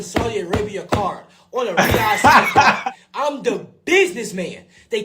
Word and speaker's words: Riyadh: And he said Riyadh. He said it right. People be saying right. Ryan. He said Riyadh.